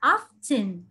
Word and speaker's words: often: Mình có thể đọc là often hoặc là often. Không biết là các bạn hay đọc cách nào. Các bạn có nhấn vào chữ T không?